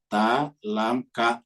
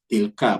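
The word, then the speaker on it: تلك: disambung kalau seperti ini kan disambung tilka misal ini disambung tidak dibaca ta lam ka kam gitu kalau ini enggak dibaca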